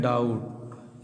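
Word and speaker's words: doubt: यहाँ लिखे हैं डाउट, यानी टी से पहले देखिए बी दिया है तो बी का उच्चारण क्या हो गया, साइलेंट।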